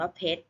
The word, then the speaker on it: เพชร: ไหม คะ อ่าน ว่า เพชร จะ ไม่ ออก เสียง รอ เรือ แต่ รวม กับ ชอ ช้าง เป็น เสียง เด็ก นะ